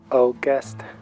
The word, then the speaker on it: August: Observa que la AU de la palabra August en inglés se pronuncia como una O española. August. La fuerza de voz en esta palabra está en la última sílaba.